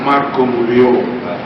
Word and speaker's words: Marga Mulya: bicara TV Margomulyo ini memang tulisannya itu Marga Mulia tetapi harus diucapkan ya Sekali lagi harus diucapkan dengan istilah Margomulyo ya jangan macam-macam biaya karena